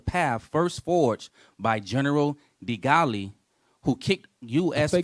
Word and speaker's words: de Gaulle: first forged by General de Gaulle, who kicked U.S. I think forces. that's De Gaulle. That's how you say it.